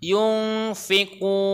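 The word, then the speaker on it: يُنْفِقُونَ: Ada nun mati ketemu dengan huruf fa, itu namanya bacaan ikhfa. Yung harus samar. Yung fikun itu matobingi.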